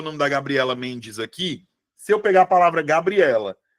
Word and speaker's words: Gabriela: Se eu pegar a palavra Gabriela, qual é a sílaba que eu falo mais forte? É Gabriela. É Gabriela. Ou é Gabriela? Quando eu falo Gabriela, é o E.